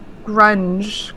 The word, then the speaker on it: Grung: Wait, grunge. How to pronounce grunge?